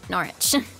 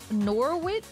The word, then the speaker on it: Norwich: o r wi i c h but you pronounce it norch and then there's also it's not Norwich or norwi no it's it's narch narch and